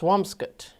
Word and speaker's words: Swampscott: Lyndon T said it's pronounced swampskut. Swamscott. Swamskut.